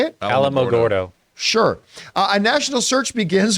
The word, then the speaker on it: Alamogordo: how do you say it Alamogordo sure a national search begins when it is